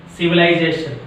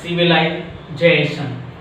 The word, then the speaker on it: civilization: A word ending with the ATION express on second syllable from the end, like civilization.